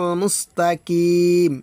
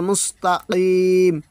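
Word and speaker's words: مستقيم: মুস্তাকিম এটা কিন্তু ভুল তেলাওয়াত।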